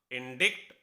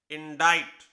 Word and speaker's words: indict: अब पढ़ने में क्या होगा? इंडिक्ट, लेकिन इसकी सही प्रोनाउंसिएशन है इंडाइट। इंडाइट। देखिए, इसमें सी की कहीं कोई आवाज नहीं आई और एक अलग ही